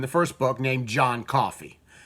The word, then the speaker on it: Coffey: first book named John Coffey. Coffee, just like the drink, but not spelled the same.